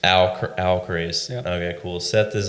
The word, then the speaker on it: Alcorace: Because I cannot pronounce that. Alcorace. Alcorace.